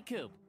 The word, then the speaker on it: Coop: you can call me coop coop that rhymes with scoop i think we're gonna